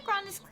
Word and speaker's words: Grandis: The Grandis characters, when the Grandis characters were slowly being released, I started, it's pronounced Grandis, but I say Grandis because my mouth keeps saying it like that.